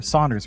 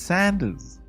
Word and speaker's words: Sanders: I thought he's just a chicken guy, you know, like like Sanders or Saunders or whatever, however you pronounce his name. Yeah, sure. There's no you in it, John. It's Sanders.